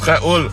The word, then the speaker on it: Raoul: Raoul, ça se prononce Raoul.